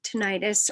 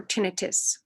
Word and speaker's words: tinnitus: aid that helps with tinnitus or tinnitus and tinnitus and or tinnitus it can be pronounced either way for those of you